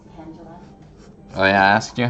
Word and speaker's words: Tangela: It's pronounced Tangela.